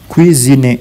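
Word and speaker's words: cuisine: Z ya zoriz kemudian huruf C diikuti huruf vokal itu diucapkan k zador quizine zador artinya aku sangat suka kuizine kuizine artinya memasak Aku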